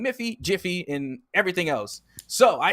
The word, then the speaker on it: Miffy: and confuse us because miffy has it in the game with an m m-i-f-f-y but it's supposed to be jiffy so now i'm confused because now we're saying miffy jiffy and everything else so